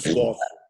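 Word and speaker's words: Cossio: É Carlos Cócio. Eu vi em alguns lugares com acento no O. Mas, na verdade, não tem.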